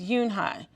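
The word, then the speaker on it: Unhei: turned to joey he nodded slowly yes it's pronounced yunhai and it it means grace mr kim added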